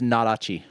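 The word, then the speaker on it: Nodachi: Yeah, this is all pronounced correctly. It's It's Nadachi.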